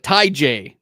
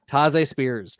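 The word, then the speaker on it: Tahj Spears: Because that's how his name's supposed to be pronounced. Like everyone's like Ty J. No, it's Taze. Taze Spears.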